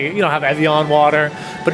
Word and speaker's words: Evian: You're saying it wrong. There's no N at the end. It's Navi.